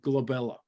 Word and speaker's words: glabella: and you're going to write down glabella and by the way that's always on the test so that is your point number one right there because it rhymes with my second daughter Isabella so I have to